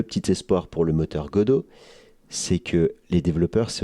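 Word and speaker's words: Godot: Le deuxième moteur en tête arrive godo avec un T à la fin mais on prononce Godo.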